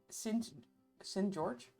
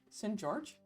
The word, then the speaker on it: St. George: The one from 1876 is called S. George. That's not how you say it. St. George. You guys don't say s George, but that's not in that's not German.